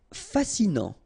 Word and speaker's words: fascinant: Fascinant. Final T not pronounced, so you get this A-N. En, non, fascinant.